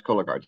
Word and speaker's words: Cologuard: Another question we received is thoughts on non-invasive options for average risk patients, like Cologuard, which I may have mispronounced it. No, you pronounce Cologuard.